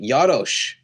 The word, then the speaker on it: Jaros: name and she said oh do you say Yadosh? And that was the first time I had heard an Eastern European pronunciation of my last name. Yeah. And you're like no I've Americanized it. It's Jared.